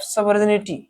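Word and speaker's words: sovereignty: एज a symbol of सवर्निटी। ठीक है, देखिए यहाँ पर क्या है? सवर्निटी, सोवरेनिटी, ये साइलेंट रहता है, EIG साइलेंट रहेगा यहाँ पर।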